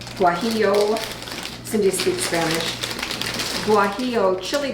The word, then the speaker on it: guajillo: Guajillo. Guajillo.